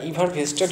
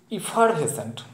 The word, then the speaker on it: effervescent: তারপরে কি ভেস্টেড, sorry বন্ধুরা উচ্চারণটা ইভার ভেস্টেড কেন হবে, ইভার ভেসেন্ট অ্যাকচুয়াল উচ্চারণটা হবে তাহলে ইভার ভেসেন্ট, ইফার ভেসেন্ট, এক মিনিট বন্ধুরা, তাহলে ইফার ভেসেন্ট, তাহলে ইফার তো সবেতেই আছে, EFF ইফার।